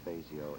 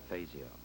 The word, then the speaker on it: Fazio: spell it right but he thinks faio is correct around the Motor City over the years in Detroit most of his friends actually called him fasio the pronunciation we'll try to stick to so at the